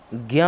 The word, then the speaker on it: ज्ञ: उच्चारण के आधार पर पूछे तो ग और या से बनेगा, और ऐसे पूछे नॉर्मली तो किससे बनता है?